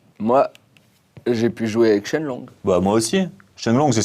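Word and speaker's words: 升龍: Mais en chinois, les kanji de Shoryu, le dragon ascendant, se prononcent Shenlong.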